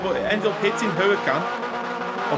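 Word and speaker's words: Huracán: Oh, Coops trying to go on the inside, but it ended up hitting Huracan. Or Hurricane, as I pronounce it.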